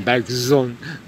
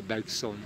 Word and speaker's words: Bergson: Deleuze, bien sûr, comporte une Z, et il citait le nom de Bergson, et il nous conseillait de le prononcer comme Bergson, et non pas Bergson.